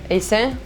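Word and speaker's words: Hossein: de la pièce de robert est saine je pense que ça se dit ça se prononce comme ça et oui cette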